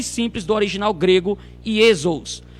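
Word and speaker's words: Ἰησοῦς: Então nós estamos aí, ó, no grego, o ditongo pronuncia-se U. Nós temos ali ou, né, Iesos.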